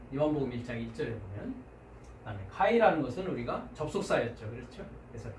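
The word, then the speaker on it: καὶ: 그래서 여기에 보면 이오타 위에 이렇게 grave라고 하는 액센트가 붙은 걸 보겠습니다. 그래서 내려가야 됩니다. 한번 발음해 보시겠습니까? 네, 카이 그죠? 카이 내려가야 되겠죠? 카이.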